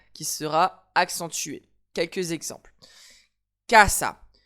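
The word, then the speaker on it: casa: Cassa, mon mot se termine par une voyelle. Donc, j'accentue mon avant-dernière syllabe. Kassa.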